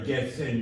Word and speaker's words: Herzen: that you see in Herzen, Chernyshevsky. Sorry, Getsen, you would say, right, in Russian, because can't be pronounced if you're from there.